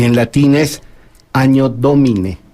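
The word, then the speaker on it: Anno Domini: y en latín es Año Domine. Se escribe ano, doble N, pero es doble N. La doble N, cuando ya en las lenguas romances, como el castellano, tiene ya la prosodia de ñ, pero era el año del Señor.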